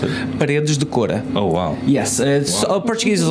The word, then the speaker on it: Paredes de Coura: Because how do you pronounce it? Paredes de Coura.